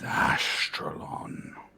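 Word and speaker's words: Ashtyrlon: notes up there we go my name is astralon you said your astronaut it's it's a weird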